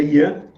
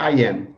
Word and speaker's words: Iam: como é que é em português é Ian é em em inglês digamos assim seria I am eu sou Então vamos